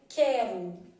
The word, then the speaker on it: quero: eu tivesse por exemplo quero vamos supor que eu tivesse 15 na palavra quero eu não falo u senão eu ia falar quero né não tem isso